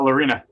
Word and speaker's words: Lorina: Facebook, and don't forget to How do I pronounce your last name? Uh Lina.